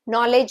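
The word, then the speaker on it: knowledge: ನಾಲೆಜ್ ಅನ್ನೋ word ಅಲ್ಲಿ ಕೆ ಇಂದ ಸ್ಟಾರ್ಟ್ ಆಗುತ್ತೆ. ಆದ್ರೆ ಕೆ ಸೈಲೆಂಟ್.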